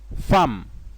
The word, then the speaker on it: femmes: mot déjà déjà mais faites attention aux mots femmes la lettre e se prononce à femmes et le mot roda